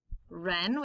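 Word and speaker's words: wren: n etc w r the w is silent so we get an er sound right wrong ren which is a type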